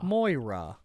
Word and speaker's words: Moira: You kept saying Myra, Myra, and Moira. Yeah. Moira. Yeah. Okay. Yeah. Well, now I know. This is now an ASMR podcast. Moira.